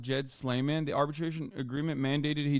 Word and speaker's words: Jad Sleiman: they they actually deleted his name is pronounced Jed slayman the arbitration agreement mandated